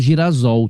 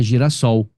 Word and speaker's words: girassol: ouve da palavra porque ao juntar gira mais o radical sol você teria como resultado girasol tá vendo é uma pronúncia estranha então a pronúncia ficaria Girassol E aí Então você